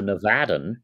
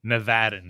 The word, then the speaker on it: Nevadan: well and you see we have to work on pronunciation it is a nadan nevadan okay and and I have